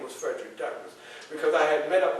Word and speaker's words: Douglass: So when they attached the name to me, I just added another S. So Douglas. See the difference? See the difference in the pronunciation? So from now on, if you would, make me happy and pronounce my name as Douglas. Put that little S on there.